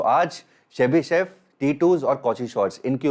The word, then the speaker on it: Chebyshev: Now next इनकलिटी इज़ शेबी chef.